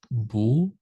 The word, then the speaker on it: boor: In wishing to fathom immeasurable dharmas, a boor, how do you pronounce that?